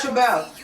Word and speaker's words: ReBelle: That's why everybody pronounces it wrong. They be like Dutch Rebel, and I'm like, yo, there's like 3 extra letters chilling right here.